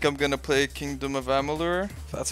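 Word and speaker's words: Amalur: lame i think i'm gonna play kingdom of ammolur that's how you pronounce it i tried to play dark souls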